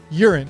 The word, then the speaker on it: Yurin: Yes, it's written Y-U-R-I-N, so it seems like you should pronounce it Yurin. However, in the English dub, her name is pronounced Yurin.